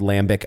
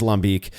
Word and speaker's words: lambic: the tradition of styles like lambic, which is commonly called lambic over here. I again, if we're American, I guess we're allowed to butcher words sometimes. I get it, but it is, it is lambic.